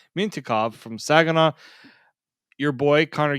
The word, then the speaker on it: Mintyukov: We got Pavel Mintyukov. Mintyukov. I don't even know why I didn't even say it like that. Mintyukov from Saginaw.